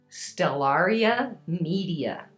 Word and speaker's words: Stellaria media: And then we have our chickweed, and the pronunciation for it. Stellaria. Stellaria. Stellaria media.